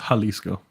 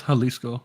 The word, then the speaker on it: Jalisco: not that J they they pronounce the J as an H so it's Jalisco yeah I don't I